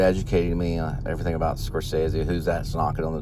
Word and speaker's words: Scorsese: department and I think I mispronounced scorsese's name I called him like Scorsese or something like that it was like some weird name and he corrected me and said uh Scorsese and uh I looked